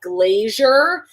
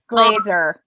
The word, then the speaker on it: Glazer: And number two, in terms of ways that people pronounce your name, I get a lot of Glazer. And the thing is, when someone, like, brings you up, there's no I. Right. That's saying. Glazer.